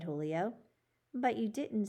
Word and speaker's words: Julio: your name young man julio julio he pronounced it the spanish way with a j having an h sound you have a couple